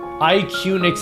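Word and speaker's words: IQUNIX: IQnix is how they say it.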